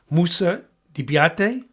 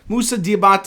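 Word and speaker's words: Moussa Diabaté: I'm not sure if I'm pronunciation Musa Debiate. Not even close. He went to Michigan. You should notice his name, but I forget. Musa Diabate. It's not that hard.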